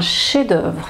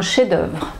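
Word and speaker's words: chef-d'œuvre: mots ensuite chef-d'oeuvre un chef-d'oeuvre donc là oui je ne prends je ne prononce pas le f un chef-d'oeuvre voilà chef-d'oeuvre toujours le voilà ici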